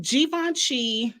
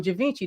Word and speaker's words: Givenchy: Cali and not uh I call him Givenchy that ain't how you say it I thought it was given she Givenchy it's Givenchy for me but anyway why nobody